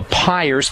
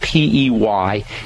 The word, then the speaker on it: Peyer's: a point in the small intestine called the Peyer's patches.